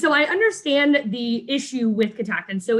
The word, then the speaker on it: Catoctin: So you guys have been around, or Ka-TOCK-tin has been around for 11 years.